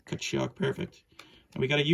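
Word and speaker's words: Tkachuk: It's Brady, but the T is silent. So what do you say? Kachuk. Kachuk.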